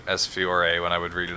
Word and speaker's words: Fiore: I'm not sure about you, but I've been saying Fiore for the one angel. It's just Fiore. Fiore. Yeah, the E is silent, apparently.